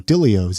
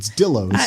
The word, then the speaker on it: Dillos: I guess I've been pronouncing it wrong. Dillios. It's Dillos.